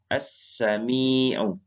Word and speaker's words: As-Sami': Azmi Azmi ya Katami kemudian ada huruf ya menandakan panjang ya yg menandakan panjang Jadi dibacanya Azmi Om ya Bisa Anda ikuti